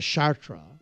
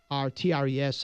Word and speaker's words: Chartres: I pronounce it Chartres, but I've heard French people pronounce it, and it doesn't sound like that. It's Chartres, I think, and it's a city